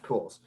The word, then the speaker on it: Pujols: Yeah, Pujols.